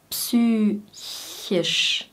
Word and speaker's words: psychisch: Psychisch, psychisch.